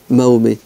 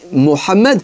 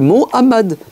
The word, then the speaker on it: Mohammed: tu dis bûche et pourquoi toi tu dis mahomé dis Mohammed tuarrives pas à prononcer le bah dis Mohamad dit pas ne l'écorche pas